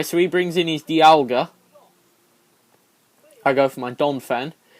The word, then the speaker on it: Dialga: Oh no, Dialga, that's how you say it.